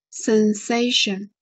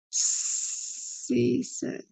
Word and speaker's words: cessation: Sensation. Are you sure? One more time. Let me check. Yeah. Cessation. Yeah. So have you found the issue? Sensation. Sense. Yeah, there is no N, cessation.